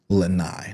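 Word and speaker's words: Lanai: Lai, not Len.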